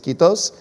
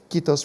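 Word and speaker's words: kiitos: invesa from helsinki and if i say it right i believe it's quitos which means thank you in finnish quitos for being with us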